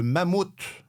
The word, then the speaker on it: Mammoth: Alors, sachez, messieurs, qu'il faut dire le mammouth.